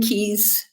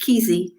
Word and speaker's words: Keyes: and Love by Ken Keyes Jr. Some people say his last name should be pronounced Kesey, but we'll just leave it at Keyes for this morning.